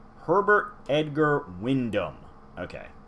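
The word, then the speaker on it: Wyndham: Herbert Edgar Windham. Okay, so I was trying to put the G from the Edgar in the Windham. Herbert Edgar Windham, a once human gentleman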